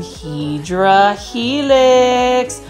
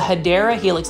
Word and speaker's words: Hedera Helix: You can see right here again, we've got some Hydra Helix, or what you call the Hedera Helix. That's the correct way to say it.